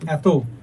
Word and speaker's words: এত: কি পড়ছি দুই অক্ষর দুই অক্ষর বিশিষ্ট সর্বনামের ক্ষেত্রে অথবা অব্যয় পদের ক্ষেত্রে কি হয় এ এর মত উচ্চারণ হয় যেমন এত কেন এত কেন পড়তে পড়তে